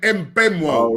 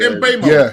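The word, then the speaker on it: Mbeumo: Sometimes that can be silent, but I think you do pronounce the M on there. Yeah, M Benoit.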